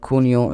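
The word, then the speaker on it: junio: month or a year in Spanish J is always pronounced as k h therefore June in English called kunio in Spanish then July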